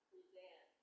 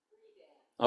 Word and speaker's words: Friedan: Her name is not Betty Friedan. Her name is Betty Friedan. Well, her husband's name was Friedman, and he dropped the M to make it sound less Jewish. And they pronounced it Friedan.